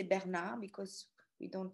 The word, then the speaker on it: Bernhardt: what people say the last one is sarah bernhardt so i know in english you say bernhard but in french we say bernard because we don't pronounce the age sarah bernard